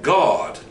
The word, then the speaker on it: Gad: now let's understand that God spelled g-a-d see let's understand that Gad pronounced God was a child then